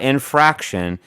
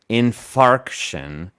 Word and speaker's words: infarction: i'm saying it right myocardial infarction in not infraction infarction you're right you're right